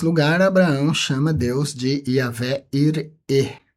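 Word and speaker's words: Yahweh Yireh: E nesse lugar, Abraão chama Deus de Yahvé ir. É a pronúncia que todo mundo conhece como Jeová gire, mas no hebraico Yahvé ir e o Senhor provê.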